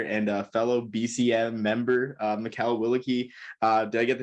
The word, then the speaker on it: Mikal Willeke: Sprint football player and a fellow BCM member, Mikal Willeke. Did I get the name right? I forgot. I should ask pronunciation beforehand.